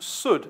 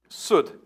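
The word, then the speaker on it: סוד: And the fourth, pronounced Sud, as in wood. Not Sud, as in bud. Sud.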